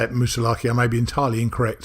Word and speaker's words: Moosilauke: I say it Moosilauke. I may be entirely incorrect. So yeah, I say it Moosilauke until, someone in New Hampshire told me it was Moosilauke. So I still call it Mt Moosilauke.